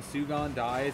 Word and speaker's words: Sugondies: And now, Sugondies, or Sugondies, however it's pronounced. Sugondies, yeah.